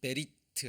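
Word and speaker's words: בְּרִית: 한번 마음에 새기시기 바랍니다 자 베리트 아고 합니다 베리라고 읽어요 이게 무슨 단어라고 언약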